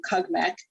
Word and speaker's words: CUGMEC: So we use the acronym CUGMEC is how we pronounce it to refer to the program.